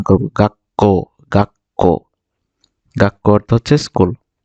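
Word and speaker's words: 学校: বর্ণটা ধরবে মূল বর্ণটাকে ধরবে তাহলে এটা আমরা উচ্চারণ করব গা ক কাক এটা যদি বড় থাকতো বড় ছু থাকতো তাহলে এটা উচ্চারিত হতো।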